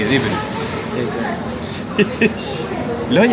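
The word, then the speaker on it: Raufarhöfn: On dirait que ça se dit Rofarofen. Ça se dit Riverup.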